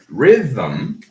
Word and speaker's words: rhythm: Again, rhythm has two.